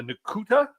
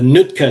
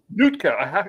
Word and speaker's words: Nootka: North Coast Trail, and the Nukuta Trail. Is that how you pronounce that? The Nootka Trail. Nootka. I should put on my glasses if I'm going to try and read instead of squint, right?